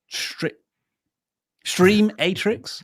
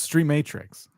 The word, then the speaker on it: Stream Matrix: A thank you here from the channel who we still don't know how to pronounce. Stream Matrix. Stream Atrix. It's pronounced Stream Matrix.